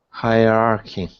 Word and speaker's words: hierarchy: weird one okay Anatoli don't say hierarchy you should say hierarchy okay very good it's pronounced like hierarchy like that right not hierarchy but hierarchy okay an toy what is